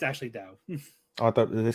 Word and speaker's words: Dao: Tau. Dao, it's actually Dao. Oh, I thought they say Tau. But it's spelled like Dao. It's spelled like Dao, but it's pronounced Dao.